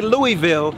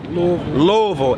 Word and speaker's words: Louisville: my brother Demetrius brothers from Louisville don't say Louisville say Lord what how do you say it Louisville and I asked the brother who his favorite